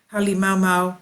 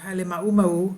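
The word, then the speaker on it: Halemaʻumaʻu: Kilauea has a large summit caldera with a center crater, Halimau or Halimau, whichever way you want to pronounce it, which is, according to the Hawaiian legends, the home of the fire goddess Pele.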